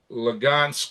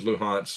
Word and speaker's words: Luhansk: Anyway, 21 territories, Crimea, Lugansk, which is Luhansk, as we have always pronounced it, and Donetsk.